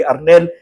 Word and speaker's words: Arnel: Ang sabi ko'y ang pangalan ko ay Arnel. Ay Ariel siya ng Ariel.